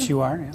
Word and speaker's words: XUR: XUR, is that how you pronounce it? XUR, yeah.